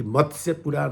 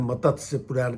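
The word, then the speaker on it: मत्स्य पुराण: मत से पुराण है इसका उच्चारण करने में बहुत लोग गलत कर देते हैं मत से पुराण कहने लगते हैं इसको उच्चारण ठीक से करना चाहिए मतस्य त स य संयुक्त है तो मत्स पुराण जो है नाम से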